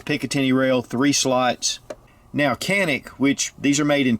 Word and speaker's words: Canik: does have the Picatinny rail three slots now Kanak which these are made in Turkey Kanak is actually pronounced in Turkish genic but Turkey is also pronounced for K so